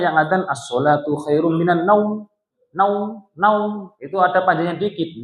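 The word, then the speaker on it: النوم: As-sholatu khairum minan naum. Naum panjang dikit, jangan as-sholatu khairum minan naum. Panjang dikit karena mat apa Bu?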